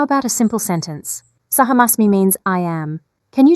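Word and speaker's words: अहम् अस्मि: Just a little adjustment. It's Saham Asmi with a long A sound at the beginning.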